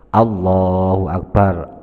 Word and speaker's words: Allahu Akbar: Allahu Akbar. Allah dan A-nya dibaca panjang.